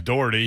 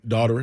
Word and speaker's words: Dougherty: i'm just messing around my last name's dougherty he calls me what do you call me daughter daughter i know a